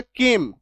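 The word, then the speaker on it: came: तो इसका उच्चारण क्या हो गया? केम। सी का उच्चारण क। ठीक है? सी का उच्चारण क हो गया। यह जो ए है इसका उच्चारण एककार की मात्रा हो गया। और म एम का म और लास्ट वाला जो इ है उसका उच्चारण कुछ भी नहीं होगा। वो कट हो जाएगा।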